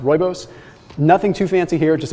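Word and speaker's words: rooibos: pumpkin spice roibos yes i know it looks like it's rubios but it's pronounced roibos nothing too fancy here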